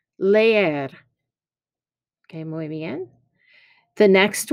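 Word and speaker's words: leer: next activity is now it's not lear you have to pronounce both of those e's leier okay muy bien the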